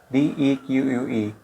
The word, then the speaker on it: deque: In this video, we will talk about Deque, that is in the collections module. Collections provide a range of useful functions and Deque is one of them. DEQUE, pronounced as Deque, stands for double-ended queue,